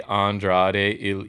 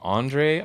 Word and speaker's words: Andrade: oh he butchered it he cannot say andrade love to save his life he literally starts and what he calls him andre i think andre de